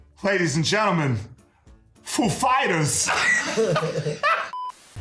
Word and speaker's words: Foo Fighters: He asked us if the accent was on foo or fighters. The accent is on fighters. Actually, he's like, "Ladies and gentlemen, foo fighters."